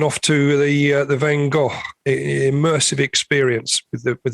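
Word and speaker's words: Van Gogh: Although I noticed you've um slightly adjusted your pronunciation of Van Go since the uh since the last recording. I know. I think I I put too much of it on F at the end. Van Go.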